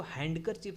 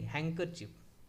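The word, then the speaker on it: handkerchief: हैंड कर चफ अब इसको हैंड करर चिप नहीं हैकर चिप ठीक है हैंकर चिप रुमाल नेक्स्ट कुछ नन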